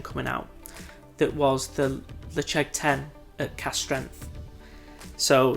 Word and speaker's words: Ledaig: I always say Ledaig and it's not the correct way to pronounce it. Ledaig, I believe, is the proper way, so it's going to